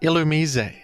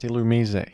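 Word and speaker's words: Illumise: treasure in my Minds up next you've got ilum that's a bug and that is how it's pronounced ilum I've been told by many people that this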